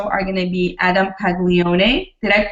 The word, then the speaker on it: Paglione: night news show are going to be Adam pagone did I pronounce that correctly Peg Leone yes you got it right thank you okay